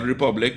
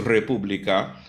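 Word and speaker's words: República: around the order and it's not Republic it's not as it becomes a Republica it's not Dominican but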